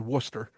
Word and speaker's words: Worcester: We got it in the pronunciation guide in the on the roster. Not Worster. Worcester.